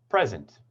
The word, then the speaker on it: present: at this word so here the primary stress is on the first syllable listen to the e vowel sound and the pitch when i say it present present here with international